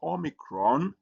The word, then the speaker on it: omicron: And then uh the next letter that we have is omicron which is uh written like O and it has a O sound like O in not.